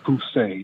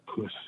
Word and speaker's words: Poussey: No, my last name is Poussey, not the other word. Okay? Sir, please. I'm sorry? It's Poussey, not Pussy.